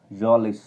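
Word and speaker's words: Mjölis: And played जॉलिस, इसको am silent रहेगा, इसको जॉलिस बोलेंगे।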